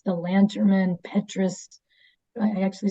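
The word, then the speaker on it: Lanterman-Petris: It's the Lanterman Petrus, I actually said it right, act that just was put in place to protect those people that have mental illness.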